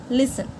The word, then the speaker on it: listen: correct answer number two which word has silent T tiger failed listen the answer is listen number three which word